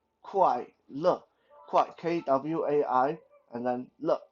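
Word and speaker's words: 快乐: make that our sound quite look quite k-w-a-i and then look l-e look uh again it's not lee but look think of it as a given a french pronunciation means birthday the time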